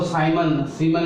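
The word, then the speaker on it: siemens: और इसको सीमन भी प्रोनाउंस करते हैं कई, ये साइंटिस्ट के नाम के ऊपर है।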